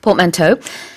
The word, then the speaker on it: portmanteau: 원래는 불어지만 이제 영어로 그냥 이렇게 발음을 합니다. portmanteau.